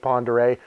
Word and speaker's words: Pend Oreille: back that I realized it was called Lake Pend Oreille so forgive the mispronunciations and some of the clips later we